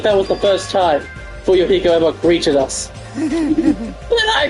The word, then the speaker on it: Fuyuhiko: My last name is, and my first name is pronounced Fuyuhiko, and I am a young member, an experienced member of my family's clan.